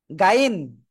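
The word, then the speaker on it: غين: দেখেন অনেকে না একটা জিনিস ভুল করে, এই গহিন রে গাইন বলে।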